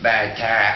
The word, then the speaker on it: Barataria: I get the barataria. Well, Sydney, I'll fucking, I'm gonna fucking get the barataria. Excuse me, sir, which street are you looking for? Barataria. You let me know how to get the barataria, I can maybe go home.